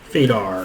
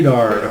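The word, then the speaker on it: Fuydar: Fadar. there. Fadar appears. Wrong emphasis.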